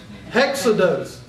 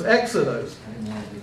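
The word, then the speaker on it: ἔξοδος: If it was a rough breathing, how would you pronounce that? Hexados. Hexados. But you don't have the rough breathing, you have the smooth breathing, so it's exodos.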